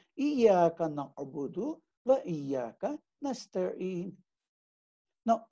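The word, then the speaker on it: إياك: to give here is, many people say Iyaka. They ignore the Shadda. But please be careful. You cannot say Iyaka, the meaning changes into something else. So Iyaka is how you should actually pronounce this thing.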